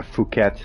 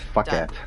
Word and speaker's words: Phuket: Yeah, Phuket, which is where they shot the man with the golden gun, yeah. which you can also mispronounce as fuck it.